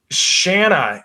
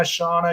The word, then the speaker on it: Shanna: way but Shanna, and so she finally just told me to sing banana, and so Shanna Banana. I pronounced Shana, Shauna, Shannon, everything but Shanna.